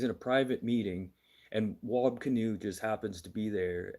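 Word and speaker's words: Wab Kinew: And yes, his name's Wobb Canoe. I'm not mispronouncing that.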